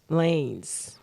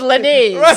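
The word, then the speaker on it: Lanez: Lance getting his uh lanes lanes like switching lanes there you go that's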